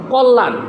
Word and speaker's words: কল্যাণ: শেষে জফালা থাকে তাহলে ওই জফলাটা উচ্চারণ হবে না বরং যে বর্ণের সাথে